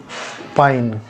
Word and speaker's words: पानी: है वैसा ही पानी पाइन ठीक है लिखा जाता है पानी पर उच्चारण होता है पाइन पानी जो है व